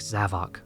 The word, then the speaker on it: Zavok: I recently realized that Zavic's name is probably supposed to be pronounced like Havoc and not like Zavok.